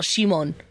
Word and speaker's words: Simon: I mean, I know it's a Japanese pronunciation of an English name, but there's something about it where I'm just like, oh, Shimon, Simon. To me, it's Simon.